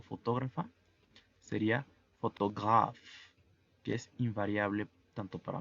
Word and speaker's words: photographe: La pronunciación es photograph. La PH, al igual que en inglés, se pronuncia como F y la E al final es muda.